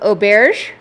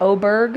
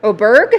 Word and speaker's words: Oberg: All right, we're we're correcting pronunciations. Yakov Ober instead of a Oberg. Oberg. Oberg. That's what there's a golfer with the same last name.